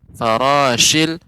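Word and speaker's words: الفراش: Pengucapannya tinggal nanti memperhatikan pertama huruf shin, farashil ya, manfush ya, ini lebih namanya tafashi huruf shin.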